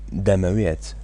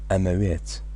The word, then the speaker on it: damawet: The first one, damawet, that's the actual word, that's the real word. But in many Sorani speaking cities, people tend to skip the D. They don't really pronounce it. They just say amawet. And in other times they don't even pronounce the last T.